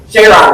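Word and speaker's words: Jayaraman: Jayram.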